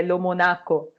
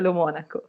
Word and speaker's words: Lomonaco: Então, muito obrigada, Vitor, pelo convite e por pronunciar meu sobrenome corretamente, pois todo brasileiro pensa que é Lomonaco, pois não tem o acento, mas de fato é Lomônaco.